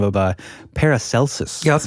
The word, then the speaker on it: Paracelsus: Did you even look up how to say that? Because I told you 4 times to check that. I did. I first of all, I figured that's how you say it because that makes sense. And then I YouTubed it, how to say Paracelsus, and it said Paracelsus.